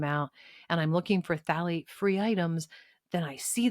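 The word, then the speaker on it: phthalate: So if you're looking for it it's ph a I'm sorry let me start again ph a l a t e. It's pronounced phalate but it looks like f fthalate.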